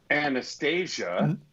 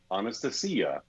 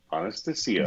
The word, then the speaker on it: Anastasia: the guest today uh our guest today is anastasia devonna no sorry okay honest to see ya honest to see you that's how you pronounce her name i did